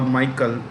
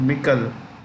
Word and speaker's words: Michel: of the European Council, Charles Michel, or some people call Michael. It's actually Michel.